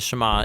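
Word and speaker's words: שמע: Now, the first word of the Shema is hear or listen, which in Hebrew is pronounced Shema.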